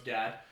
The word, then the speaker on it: God: Shout out to Gad. He actually said... It's actually spelled G-O-D, but he pronounces it Gad, because he's from Michigan. Right.